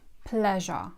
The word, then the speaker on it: pleasure: It's pronounced like "pleasure". You know the word "please" and sometimes this word is also tended to pronounce like with "z" sound. But it's pronounced with "j" sound.